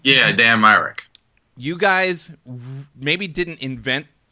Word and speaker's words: Myrick: Yeah, Dan Mrick.